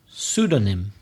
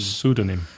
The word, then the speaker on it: pseudonym: Pseudonym. So what? That's a silent P again at the beginning. Is the first letter, silent P. Pseudonym.